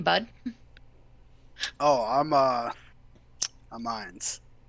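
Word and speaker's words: Ainz: i n z okay pronunciation wise it would be like you're saying Hines without the H yeah okay so I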